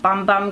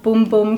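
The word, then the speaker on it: Bum Bum: the pre shampoo mask to this little brazilian bom bom cream of boom boom cream as janina's tells me that it's pronounced she just my Sephora go with letting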